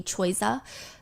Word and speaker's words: Choiza: She is caught by the paparazzi spending time with this rapper named Tehe, or I guess the English pronunciation would be Choiza.